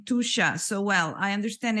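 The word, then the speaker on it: Tuscia: in the heart of tusha now tusha is actually spelled t-u-s-c-i-a but it's pronounced as t-o-o-s-h-a so welcome Federica it's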